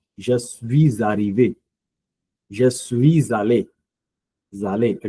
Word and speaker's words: je suis arrivé: So please take into consideration that when I say aller and arrivé, I do pronounce a liaison with a liaison. Je suis arrivé.